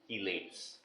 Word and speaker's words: chelate: of are termed as chelates. कुछ लोग चीलेट बोलते हैं, कुछ चलेट भी बोलते हैं, कुछ छीलेट भी बोलते हैं, but the pronunciation better would be chelate.